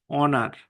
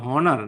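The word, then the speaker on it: honour: হ্যাঁ, আর যদি আপনি দেখেন যে না, উচ্চারণটা এখানে যেমন দেখেন অনার, হি ইজ অনার টু his profession, অনার এখানে কিন্তু হনার না, তাহলে অনারের উচ্চারণটা যেহেতু হচ্ছে, সুতরাং আপনার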